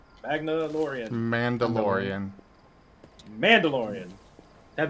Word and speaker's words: Mandalorian: Magnalorian. Magnaan. Mandalorian.